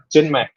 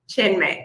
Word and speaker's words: Chinmay: How do I pronounce it? Chinmay. Chinmay.